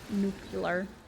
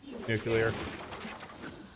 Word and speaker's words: nuclear: elementary school every Long's doing the whole like nucular yeah well those to make fun of Bush cuz that's how you pronounce nuclear I'd yeah cuz it's mute yet their way